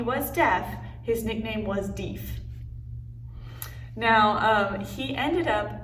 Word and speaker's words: Deaf: deep smith that apparently is how you would pronounce his name so while he was deaf his nickname was dief now um he ended up checking out texas in 1817.